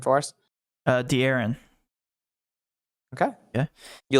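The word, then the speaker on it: De'Aaron: coming in tonight smh matt you want to pronounce uh fox's first name for us uh d aaron okay yeah you like darren fox tonight i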